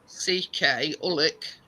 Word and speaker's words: Ullock: But yeah, it's spelled Ullock, Ullick, and it's near Cockermouth.